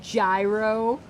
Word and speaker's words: gyro: Like, you could grab yourself a good gyro, or if you say gyro. Or hero. I've heard people say hero.